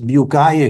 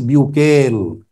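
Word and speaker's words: Bucaille: उनका नाम था मॉरिस फ्रेंच लैंग्वेज में मॉरिस बकाई कहते हैं मगर इंग्लिश में मैं आसानी के लिए नाम लूंगा मॉरिस बकेल इंग्लिश में उसका तलफ्फुज बनता है मॉरिस डॉक्टर मॉरिस बकेल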